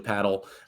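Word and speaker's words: padel: ball, paddle, um, which a lot of people pronounce pedel. It's actually paddle.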